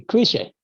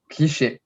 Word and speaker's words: cliché: Next is the cliche. Cliche. Cliché.